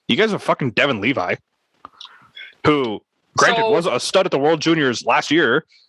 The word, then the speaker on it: Levi: So you have him, you have it's Devin, is it Levi or Levy? Levi. Yeah, I figured. To be fair, hold up. Ukko-Pekka Luukkonen, however you pronounce it.